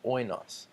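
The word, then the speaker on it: οἶνος: The little tilde that's above that you might see in the Spanish language or other languages tells us this is the syllable, the emphasis goes on the first syllable, oinos, and that's the Greek word for wine.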